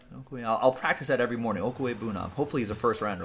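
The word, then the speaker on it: Okwuegbunam: Albert's name pronounced Okwe Bunam. Okwe Bunam. All right. I'll practice that every morning. Okwe Bunam.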